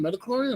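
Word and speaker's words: Midi-chlorian: That's the term, Metachlorian?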